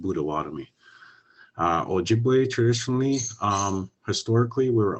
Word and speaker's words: Potawatomi: people, we pronounce it Budawatomi. But when you see non-native people write it down, they all spell it with a P and a T in there, Potawatomi, but it's pronounced Budawatomi.